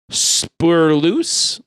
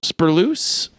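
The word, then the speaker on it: Spoorloos: look up the name again so I can pronounce it right oh is a Dutch film oh from 1988 called spur loose spur loose s-p-o-o-r-l-o-o-s okay that says the vanishing yes it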